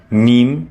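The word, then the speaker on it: ميم: Mim, pronounced like the letter M.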